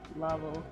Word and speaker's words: Laval: Laval, Quebec, pronounced Laval.